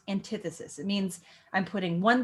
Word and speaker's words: antithesis: Antithesis is how you spell it, but it's pronounced antithesis.